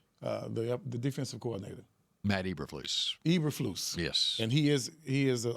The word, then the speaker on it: Eberflus: Eberflus.